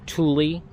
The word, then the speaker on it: Thule: thing i'm going to say is that it's pronounced teva not tiva it's thule not fool and it's arc terrix not whatever